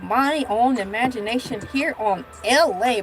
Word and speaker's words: Elay: You heard it first here in the figment of my own imagination here on LA. Pronounced like LA, like the city on the front there, but I'm breezy at 10 o'clock a.m.